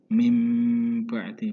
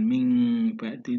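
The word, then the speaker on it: مِنْ بَعْدِ: Nah, padahal di sini ada nun sukun, tapi membacanya mim ba'di, bukan ming ba'di, tidak, tetapi mulut kita, bibir kita akan mengatup atau mingkem.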